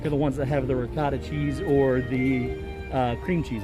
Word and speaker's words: ricotta: Yeah, so Sean tells me that it's not ricotta, it is ricotta.